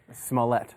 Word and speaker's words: Smollett: Smollett. Smollett. That's what I'm going for. He never mispronounces last names.